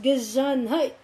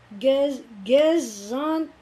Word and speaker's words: Gesundheit: Gesundheit. This is a funny looking word which pronounced Gesundheit. Gesundheit.